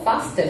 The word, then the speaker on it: faster: faster 아니고 faster 정도는 캐치하셨죠? 어렵지 않게 영국식 발음 나왔습니다.